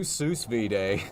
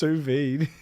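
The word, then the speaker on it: sous vide: All right, we'll do Seuss V-Day. Did you say Seuss Vday? Yeah. Whatever. What? How is it? How is it pronounced? Suvid.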